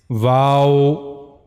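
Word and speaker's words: و: The origin of this letter is circling the two lips without meeting completely means you have to circling your two lips but the lips shouldn't meet to each other like wow.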